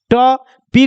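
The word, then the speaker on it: top: Just like वैसे ये है, टी को प्रोनाउंसिएशन क्या कीजिएगा, ट, पी को प्रोनाउंसिएशन क्या कीजिएगा, प, और दो कॉन्सोनेंट के बीच में ओ आया तो ओ का मात्रा ले लेगा, तो क्या बन जाएगा, टॉप, क्या बन जाएगा, टॉप।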